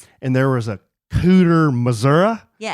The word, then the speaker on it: Missouri: podcast to tell you I'm from Missouri and we say Missouri with a long E. I guess some people say Missoura, but we judge them."